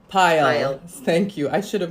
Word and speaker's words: Payal: Am I pronouncing your name right? It's Payal. Payal.